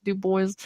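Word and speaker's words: Dubois: to say I think we should talk about D boys so you guys do boys it's pronounced d Boys by the way spelled duu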